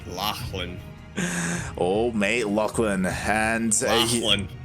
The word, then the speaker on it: Lachlan: And Lachlan. That's not how you pronounce that name. Lachlan. Alright, there's no GH in there.